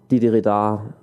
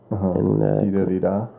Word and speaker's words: didgeridoo: And Didgeridoo, that's how you pronounce it. Didgeridoo. Didgeridoo.